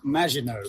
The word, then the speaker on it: Maginot: It's pronounced Maginot.